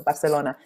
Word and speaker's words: Barcelona: I was just in Barcelona, I'm pronouncing it like an Italian, so Barcelona on Friday, working with Ada Colau's team.